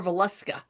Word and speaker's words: Valuska: Was it Valuska or Valuska? It's Valuska.